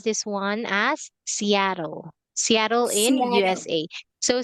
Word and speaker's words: Seattle: However, this word or this place, okay, we pronounce this one as Seattle.